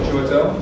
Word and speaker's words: Chiwetel: I can't pronounce his name. What, Chiwetel?